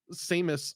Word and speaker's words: Samus: things it's like when Samus Samus Sam Samus Samus it's literally the name Sam with an us Samus Samus yeah I